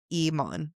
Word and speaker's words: Eamon: It is Eamon where the second syllable is like Fawn.